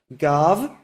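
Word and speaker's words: גב: So let's start with the word gav, gimel bet, and we all know that the last sound there is a v, gav.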